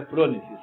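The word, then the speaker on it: phronesis: É fres ou fronêes? Frônicesises, tá? É eu que de vez em quando erro, né? Mas é pronesis o nome, a pronúncia certa.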